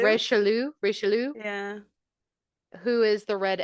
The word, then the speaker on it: Richelieu: I spelled it out phonetically. Richelieu.